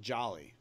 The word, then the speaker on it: Jolie: know my last name is spelled JA Jolie but I pronounce it jolly yeah but your sister